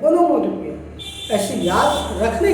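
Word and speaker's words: onomatopoeia: वैसे कहना सही नहीं होगा क्योंकि उसका एक्चुअल प्रोनाउंसिएशन वो नहीं, ओनोमोटोपोइया, ओनोमैटोपोइया, पोइया नहीं कहेंगे, लेकिन याद करने के लिए, क्योंकि यहाँ पे POEIA है, POEIA है, पोइया।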